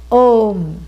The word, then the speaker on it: Om: cannot be mispronounced because phonetically it is made up of a u m a plus u becomes o om but how does it